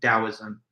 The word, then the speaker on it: Taoism: a D or T, but it's pronounced with a hard D sound. Even when it's spelled with the letter T, you still refer to it as Taoism.